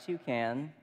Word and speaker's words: toucan: And what I love about toucan is it rhymes with you can.